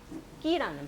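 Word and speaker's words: ཀི: 예를 들어서 까자에다가 이라는 발음이 붙어서 까자에 이가 붙어서 끼라는 발음이 되거든요.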